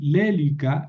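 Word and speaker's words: λέλυκα: Y la pronunciación es así: lélica, lélicas, lélique, lelícamen, lelícate, lelícasi. ¿Por qué moví el acento? Porque esa es una proparoxítona.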